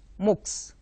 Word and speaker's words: MOOCs: form of distance education MOOCs MOOC s we pronounce it looks now you find such